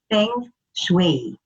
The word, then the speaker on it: feng shui: introduction to feng shui actually uh the correct pronunciation is feng shui now um the feng